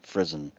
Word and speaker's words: Frizzen: So rhymes with prison, frizzen.